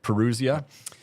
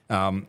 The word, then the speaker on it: Parousia: Do you guys know how to pronounce it? Parousia. Parousia.